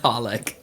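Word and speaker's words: xxxHOLiC: yeah yeah or xxx what you're not supposed to say the x's in that you're just supposed to call it holic huh yeah say a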